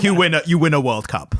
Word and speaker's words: World Cup: So here in the UK, we say the World Cup because the emphasis on the world part. It's the World Cup. And Americans, they say, whenever they reference it, they say World Cup.